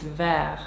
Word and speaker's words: Vert: ver malit I think with proper French pronunciation you don't pronounce the T so it's ver I have been doing